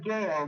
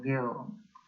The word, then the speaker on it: Gail: Otherwise, my name is Gail. Gail. Oh, Gil. Yeah. Rhymes with jail. No, with a G.